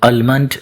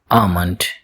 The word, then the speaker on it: almond: Many people mispronounce it as almond but its correct pronunciation is almond. Almond. L is not pronounced in this word.